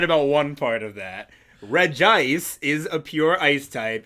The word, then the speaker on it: Regice: Oh, I feel so Regi Ice vindicated. is typing. Regi Ice is a pure Why are you ice mispronouncing it?